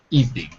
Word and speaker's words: evening: it's a special word evening evening evening two syllables evening okay that was Todd